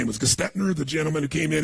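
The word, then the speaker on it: Gerstner: know how to pronounce his name, it was Gestetner, the gentleman who came in, who was like the major turnaround guy. What's his name? Gertner, thank you.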